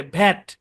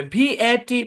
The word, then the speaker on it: VAT: VAT বললে হবে না, ভ্যাট বলতে হবে একটা শব্দের মতো করে। যেমন আমরা ব্যাট বলছি, আমরা ব্যাট বলছি না, ক্যাট, ব্যাট, স্যাট বলছি কিনা, ওরকম একটা শব্দের মতো উচ্চারণ করতে হবে।